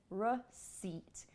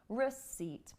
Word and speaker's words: receipt: which is uh it's not receip again it's receip receip R do you hear the difference R not re it's spelled re e but we don't say receip